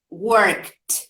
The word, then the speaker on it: worked: yes in this case what would be the uh the pronunciation of the past of that idi how do we work all the word work worked yes with a t in general the endings